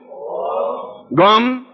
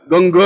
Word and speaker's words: गं: बोलिए ओम गम। अब देखिए मैं म बोला है, गंग नहीं बोला है, गंग नहीं बोलना है, गम बोलना है।